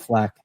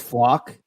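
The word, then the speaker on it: Flach: I think it's Flock. Leon Flock.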